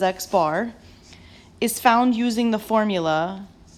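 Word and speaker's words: x̄: which is notated as an X with a line over top pronounced as X bar is found using the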